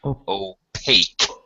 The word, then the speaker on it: opaque: This word here, opaque. Opaque. Yeah, the QE has a K sound, opaque.